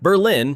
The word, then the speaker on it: Berlin: Berlin, pronounced Berlin, sits deep in northern New Hampshire near the Maine border surrounded by the White Mountains.